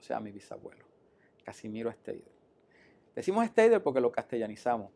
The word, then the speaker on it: Steidel: El bisabuelo de mi padre, Hermann Steidel, así se pronuncia en alemán el apellido, provino de Alemania y se estableció en Maunabo.